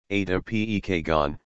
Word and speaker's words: Ajda Pekkan: Is Ajda Pekkan, Turkish pronunciation, Ajda Pekkan, February 12, 1946, Istanbul, Turkey, also known as Superstar, is a Circassian-Turkish pop singer and actress.